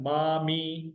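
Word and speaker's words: مامي: MAAMI, मामी या मुमानी, maternal aunty, मामी। मामो हो गया आपका मैटरनल अंकल, और उनकी बेगम साहबा आपकी हुई मुमानी या आपकी हुई मामी। मीम अलिफ जबर, मीम ये जेर, मामी, मामो, मामी, ठीक है।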